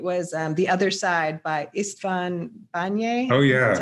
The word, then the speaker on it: István Bányai: It was The Other Side by Istvan Banye.